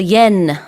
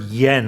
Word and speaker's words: yen: You can pronounce year and yen uh with a English Y sound.